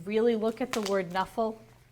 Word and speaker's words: Knuffle: look at the word nephal usually when KNN go together you don't hear the K but she does pronounce it like that she even got to